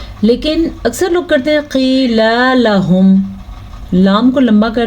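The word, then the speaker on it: قيل: اس کو پڑھا وَإِذَا قِيلَ لَهُمْ، کیا ہے یہ؟ قِيلَ لَهُمْ، قاف کو موٹا پڑھیں گے کیونکہ یہ قاف ہمیشہ ہی موٹی پڑھی جاتی ہے، لیکن قاف کے بعد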